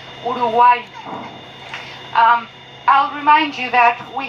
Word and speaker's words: Uruguay: or the river of the painted birds, correctly pronounced Uruguay.